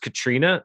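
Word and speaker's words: Caitríona: strangely it's how you would assume people would mispronounce it which it's just katrina but it looks like very complicated not katrina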